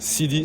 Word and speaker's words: Sidy: So, but no, I mean it's like C and D, like the CD, like is simple.